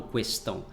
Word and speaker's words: questão: Poucos brasileiros falam questão, mas isso são pessoas mais velhas, né? Pessoas que têm de 60 anos para cima, né? Geralmente os jovens já não utilizam mais essa pronúncia do U depois da letra Q.